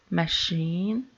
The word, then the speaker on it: machine: In words of French origin, the stress always appears on the final syllable, like police, machine.